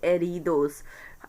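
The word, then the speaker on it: heridos: एरिडोस, ज़ख्मी, H silent होगा, इसको बोलेंगे एरिडोस।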